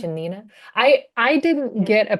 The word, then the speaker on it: Shanina: And am I gonna pronounce this right? The Rosa Rosa Shinia? Shanina.